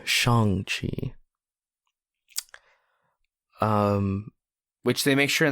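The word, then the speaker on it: Shang-Chi: to bring it to change she sorry Shang Chi um which they make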